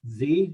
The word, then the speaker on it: Zee: name is uh zee actually the last name is pronounced just like the last of the alphabet i'm a business advisor